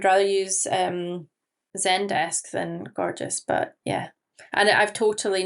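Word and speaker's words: Gorgias: top tip tool and that is gorgeous. So, I think that's how you pronounce it.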